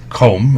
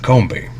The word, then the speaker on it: Combe: So yes, there may be some contention between the pronunciation of Combe and Combe. As far as I'm aware, it's either or.